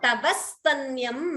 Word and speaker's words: तवस्तन्यं: So Tavastanyam manye. Here Dvitvam, extra s is heard, the s is doubling.